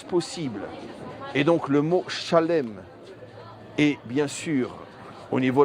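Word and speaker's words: שלם: Donc quoi qu'il en soit, même en français, Zalem est une déformation francophone ou occidentale du mot écrit qui est Shalem.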